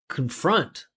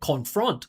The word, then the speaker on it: confront: because that confront should be a salabic consonant. It's an unstressed syllable that finishes with n. It was one of our first lessons. And you never pronounce the vowel there.